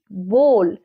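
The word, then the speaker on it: bowl: আর বড় বাটি বিগ বোল লক্ষ্য করবে আমরা কিন্তু বাউল বলবো না এটা হবে বিগ বোল ডব্লিউ টা সাইলেন্ট হবে শি ইজ মিক্সিং ফ্লাওয়ার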